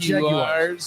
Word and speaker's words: Jaguars: As Danny says, the Jaguars. Jaguars. That's how you say it, Jaguar.